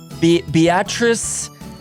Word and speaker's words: Beatrice: coming to us from Beatrice Nebraska did I get that right Dylan yes that's how the locals say it Beatrice pronounce I mean